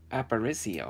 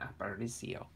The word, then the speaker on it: Aparicio: Okay, Luis Aparicio, I think is exactly how you say his name, Aparicio.